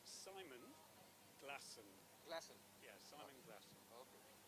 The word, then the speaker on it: Glasson: I want to make sure I pronounce it properly. right. It's Simon Glasson.